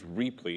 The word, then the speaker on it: Reapley: Um so the the name so our company is Reapley. It's spelled um like the word cheaply with an R instead of a C.